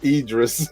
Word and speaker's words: Idris: How do you pronounce his name? It's It's Idris. Idris.